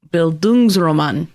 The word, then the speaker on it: Bildungsroman: This would be Bildungsroman is how you say it.